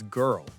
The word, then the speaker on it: girl: Another hard one is girl. Similar sound. Girl.